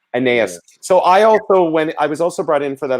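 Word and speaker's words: Anaïs Mitchell: Can you again pronounce the wonderful, the writer of the show, her name? Oh, Anais Mitchell. Anais.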